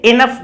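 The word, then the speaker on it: enough: Example है एनएफ, लेकिन इसको क्या बोलते हैं हम, एनएफ नहीं बोलते, इनफ बोला जाता है, ई न एफ, इनफ।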